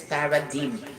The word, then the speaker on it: paradigm: uh Para dim actually before my pronunciation for this is Paradigm actually this is a